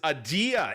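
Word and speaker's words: Adeia: But this is Adia. A D E I A is how it's spelled, listeners.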